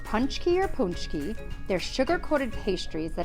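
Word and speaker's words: pączki: pooch key that's right it's called punchy not poxy is launched on january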